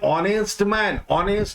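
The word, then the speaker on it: honest: जब उच्चारण करते हैं ऑनेस्ट मैन तो उच्चारण होता है वॉवेल का, तो हमें एन इस्तेमाल करना चाहिए।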